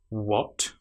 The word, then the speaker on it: what: So we start with our missing H sound by saying what. And sadly this is the letter A. It sounds like the short vowel sound O but we have the letter A there.